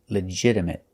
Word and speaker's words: legitimate: next word is legitimate we notice that the t is pronounced with a fast D sound not legitimate but legit legitimate and a stop T at the end legitimate legitimate means accepted